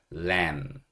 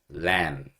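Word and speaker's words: lamb: 볼 건데 양고기는이라고 합니다 l 마지막에 b n 발음하지 않아요 묵음 발음하지 않아요 L 만 발음하시면 되고 램 램 이게 양고입니다 예 그래서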